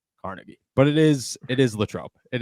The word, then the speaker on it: Carnegie: for a lot is I say Carnegie, and people are like, no. Carnegie? It's Carnegie, and I'm like, no, dude, it's Carnegie. It's spelled Carnegie. So I'll take the L on that. I understand I'm in the wrong there.